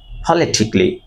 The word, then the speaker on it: politically: Never সে পলিটিক্যালি, say politically. Politically. Politically. আবার politically. P, not P. Politically. Never say politically, right?